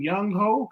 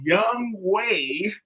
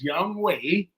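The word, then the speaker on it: Young-hoe Koo: on Shannon Sharp's podcast he said is his name Young ho his name is not young ho he know better he know his name is Young way even though it's spelled h OE is Young way cou and let me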